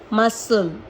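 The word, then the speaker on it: muscle: स पढ़ा जाता है तो एस के संग अगर सी आता है तो वह साइलेंट ही रहता है और अगर के से पहले आता है या यू से पहले आता है तो भी सी जो है वह साइलेंट रहता है अगेन एक्सेप्शन सब में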